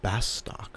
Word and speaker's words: Bastok: come to best Duke I'd actually been mispronouncing this this word is bastock for many years until I finally saw it spelled phonetically with the Katakana best stuke was home